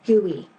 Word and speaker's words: GUI: software today uses a graphic user interface GUI which is pronounced gooey a gooy does as